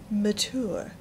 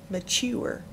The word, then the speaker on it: mature: By the way, if you want to be mature, you can say it like Gaddy, my great Aunt Tess, mature, which rhymes with door, not mature, which rhymes with sewer.